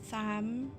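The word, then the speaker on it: Tharmr: The R is silent. Tham.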